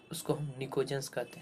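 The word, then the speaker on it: pnictogens: Group 15 का elements जो होता है उसको हम निकोजेंस कहते हैं। क्या कहते हैं, इसमें पी साइलेंट रहता है, जिसको हम निकोजेंस कहते हैं।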